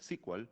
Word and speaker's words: SQL: a llamarse sql y por eso es que hasta ahora se pronuncia squal y no sql Aunque sql también es correcto Oracle fue la primera